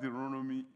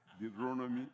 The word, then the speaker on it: Deuteronomy: If I want you to write that word Deuteronomy in that way, the way you pronounce it, right. Yeah, it might be difficult for you to write it. Deuteronomy. It's called Deuteronomy. Not Deuteronomy. Amen.